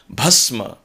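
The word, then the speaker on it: भस्म: about bur then so basma means ashes bhasma so there is a necessity to understand the difference between bur and bha when especially when we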